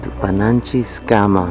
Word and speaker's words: Tupananchis Kama: Tupananchis Kama means until we meet again.